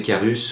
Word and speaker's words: Carus: Je veux parler de monsieur André Carus ou Caru, si vous voulez, si vous ne voulez pas prononcer le S.